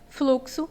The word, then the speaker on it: fluxo: E o nosso gabarito é o item D, fluxo, pois fluxo é como se a gente escrevesse assim, flu-que-sou, né?